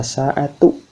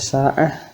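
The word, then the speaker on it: ساعة: Kalau dibaca taknya ta marbutohnya berarti dibacanya ta, aina sa'atu, sa'atu, as-sa'atu gitu ya, tu gitu. Sementara kalau misalkan disukunkan atau dimatikan dibacanya dengan ha gitu, aina sa'ah gitu, sa'ah gitu.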